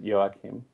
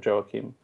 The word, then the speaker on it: Joakim: If it's probably his French father probably pronounces it Joachim. But I think everyone calls him on the radio Joachim.